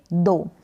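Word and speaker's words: though: या रोशनी नेक्स्ट है इसको पढ़ेंगे दो क्या पढ़ेंगे दो टी ह को डी पढ़ा ठीक है और ओ को और पढ़ा जैसे की यहां पर हिंदी में लिखा हुआ है दो हो गया और जी ह का उच्चारण यहां पर नहीं हो रहा है दो का मतलब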